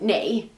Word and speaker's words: 哪: n which means which this can alternatively be pronounced as nay an example of a